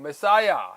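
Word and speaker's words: Messiah: 히브리 말로 마시아흐가 영어로 메시아, 영어의 발음으로는 메사야 이렇게 발음을 하고 있습니다.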